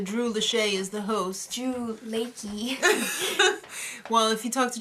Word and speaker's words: Drew Lachey: this with the Drew Lee as the host Drew Ley well if you talk to Tracy Morgan that's